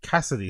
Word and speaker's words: Cassidy: I love how he can't pronounce Cassidy. Oh, Cassidy. Sorry. Cassidy, the the legendary Philadelphia battle rapper. Cassidy. You you can't say Cassie.